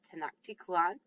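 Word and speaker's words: Tenochtitlan: to um hear about this place um called tanaktikalan which is right here that's how you pronounce that tanaktikalan and um previous conquistadors had attempted to sort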